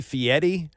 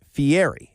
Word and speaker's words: Fieri: It's hosted by, he calls himself Guy Fieri, but it's F-I-E-R-I. It seems to be Fieri, and I think most people pronounce it Fieri. He pronounces it Fieri, but he's a guy